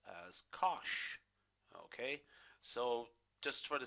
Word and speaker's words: cosh: okay and hyperbolic cosine which are going to pronounce as cosh okay so just for the sake of simplicity